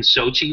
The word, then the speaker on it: Sochi: Yeah, Sochi, you got it right.